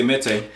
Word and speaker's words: Mete: This is the Canik Mete or Meta, depending on who you are and how you pronounce it. You better say Mete. I say Mete, but 15+1 capacity with this mag.